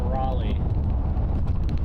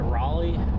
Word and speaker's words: Raleigh: 26 miles from Raleigh. Is it Ro- How do you pronounce Is it Raleigh?